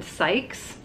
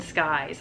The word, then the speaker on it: Sykes: So her name is Grayson Sykes. It is spelled S-Y-K-E-S. And every time I look at it, including just this minute, I see Grayson Skies.